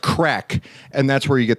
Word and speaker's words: craic: the the Irish thing that's pronounced crack and that's where you